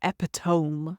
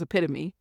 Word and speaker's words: epitome: Things like epitome, which is epitome, Or I remember seeing someone say man's laughter for manslaughter.